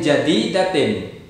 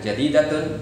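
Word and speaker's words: جديدةٍ: Bi sayyaratin, maka jadi datin, bukan jadi datun, bukan jadi datan.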